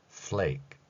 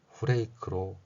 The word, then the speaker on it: flake: flake 이렇게 발음할 수 있다는 것이죠. 그런데 이러한 표기가 일본어 방식으로 변질되면 후레이크로 발음이 됩니다.